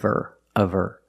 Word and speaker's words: her: You hear the possessive her pronounced by the skin of her. You don't really hear the H because the word her is not stressed.